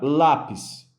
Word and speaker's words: lápis: Então, a palavra lápis. Lápis, ela tem a sua sílaba mais forte posicionada na penúltima posição.